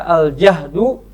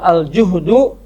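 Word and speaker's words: الجهد: Aljihad berasal dari kata aljahdu atau aljuhdu atau aljihdu dengan fathah, dengan domah atau dengan kasrah. Jahdu, juhdu, jihdu.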